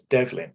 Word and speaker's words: Devlin: Secondly, Devlin is a Gaelic Irish name, and the original spelling of it in Gaelic is Diobhlin, and phonetically it just comes out as Devlin.